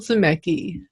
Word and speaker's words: Zimecki: to introduce the author of death sentences Michael szymek II I did pronounce that correctly this yes thank you good